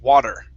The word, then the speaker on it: water: t but you'll hear most people there say water okay pronouncing this t like a flap tea okay